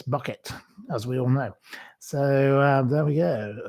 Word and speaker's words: Bucket: It's pronounced bouquet. Well, it's not really. It's bucket as we all know.